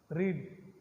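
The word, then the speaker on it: read: सी रेड, आम तो रेड बोलाय, लखाय स्पेलिंग एक ज, रीड रेड रीड, स्पेलिंग 3 सरखो है, V1 V2 V3।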